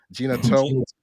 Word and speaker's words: Gena Tew: to speak about jenna gina toe am i pronouncing her her name right gina toe yeah gina 2 okay and